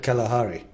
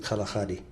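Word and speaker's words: Kgalagadi: of the kalaka western people would call that Kalahari but in fact in sitana we pronounce it kaladi the kaladi is named after a type of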